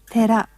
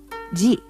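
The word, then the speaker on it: 寺: On its own, the kanji for temple is pronounced tera. When part of another word, it becomes ji.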